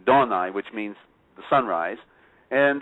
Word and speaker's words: Adonai: So we're going to put in Adonai, or which should be pronounced correctly, Donai, which means the sunrise.